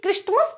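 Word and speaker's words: Christmas: ये नहीं ध्यान दिए कि क्रिसमस क्यों नहीं पढ़ा जाता, टी कहाँ गया। बट इसलिए क्योंकि यहाँ पे हमारा टी जो है वो साइलेंट है।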